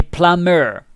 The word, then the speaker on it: plumber: that fixes your toilet remember the b is silent and the word plumber so like the b is silent you say plummer yeah but it's like